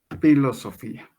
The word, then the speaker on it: filosofía: latín Cómo se dice phi loso y pH Pía filosofía recordemos que el H es muda en actualidad Entonces se va a llamar filosofía Sí en griego esa